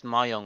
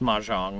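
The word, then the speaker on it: mahjong: game isn't there I I think it's pronounced maang not to not to call you out but I'm pretty sure it's ma m yeah maang okay yeah that's another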